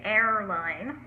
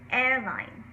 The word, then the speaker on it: airline: advanced it's advanced airline now you want a little bit of a hint of an r in there you don't want to over pronounce the r or say error line or not pronounce it at all and say a line uh both neither of those are correct it's airline um so we all